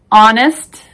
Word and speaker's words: honest: spellings who whose whole the h is silent in these words our honest honor air oh vehicle exhausted